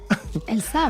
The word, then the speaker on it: Elsa: Elsa, même si je peux me permettre. Elsa, Elsa, absolument. c'est vrai, c'est la prononciation Exactement.